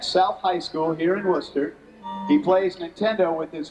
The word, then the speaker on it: Worcester: Worcester, right? Worcester. Worcester, see? I gotta say it right.